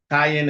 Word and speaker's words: Qayin: Kayin is spelled Qayin.